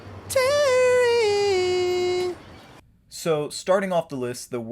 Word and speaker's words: Terry: Well, I guess it might rhyme with Mary or Harry. My name isn't Mary or Harry. My name is Terry.